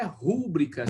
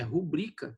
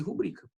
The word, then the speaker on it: rubrica: E aqui também, ó, não é rúbrica. Se fosse rúbrica, tinha acento. É rubrica, né? Aquela assinatura que você faz ali rapidão ali, né? Chama-se rubrica, tá certo?